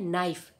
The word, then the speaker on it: knife: अब यहाँ उदाहरण देखिए विद्यार्थियों, KNIFE और इसका बनता है नाइफ, यहाँ के साइलेंट है।